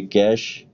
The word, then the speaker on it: cache: ये कैश, ये इसकी प्रोनाउंसिएशन है, और माय अपॉलॉजी, CACHE मेमोरी।